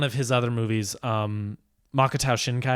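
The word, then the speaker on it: Makoto Shinkai: his other movies um makata shinkai I believe is how you pronounce his name brilliant filmmaker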